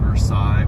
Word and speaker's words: Versailles: at uh Versailles Road it's spelled Versailles pronounced Versailles in Kentucky um sales Road and